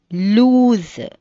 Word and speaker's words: loose: sound it's it is lose the it rhymes whose and news the second one is l double o s e sound lose it rhymes moves and goose the first one l